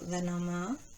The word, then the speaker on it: Lenormand: And make sure they're all facing upwards because there's no reverse in Lenorand or Lenoma as it's pronounced in French.